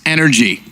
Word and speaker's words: NRG: nothing for NRG yeah which is actually pronounced energy is it ready to